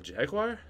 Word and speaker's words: Jaguar: did you say Jag what do you say jaguar it's Jaguar Jaguar no no how it's spelled yeah J oh yeah jagu okay I I could see how that's spelled but Jag all Americans or some Jag Jaguar but the British Jaguar made silent right cuz in I